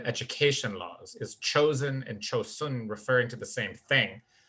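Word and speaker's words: 조선: for several hundred years cho sen is the japanese pronunciation of that name which was used during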